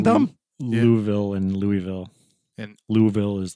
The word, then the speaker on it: Louisville: And- Louisville is like the correct, according to the people that live there, pronunciation.